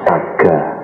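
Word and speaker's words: sagga: Bahasa Palinya saga, S-A-G-G-A.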